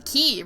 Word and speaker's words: quay: the of the Quay or hell that like that's the key right that's the like spelled like that that's a key uh armor planting upgrade